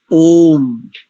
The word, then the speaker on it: ओम: ओम मंत्र के साथ ओम पद का उच्चारण सदैव प्लुत में करना चाहिए इस बात का सदेव समान रखे ओ उतम पर पत उतर ऐसा करते हैं कई लोग नहीं ओम पद प्लुत के साथ आएगा यदि मंत्र उच्चारण कर